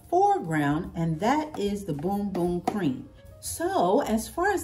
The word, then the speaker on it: Bum Bum: it I did say bum bum I I sure did I said bum bum but the correct pronunciation is boom boom not Bumbo but boom boom you know like boom goes to Dynamite and so as we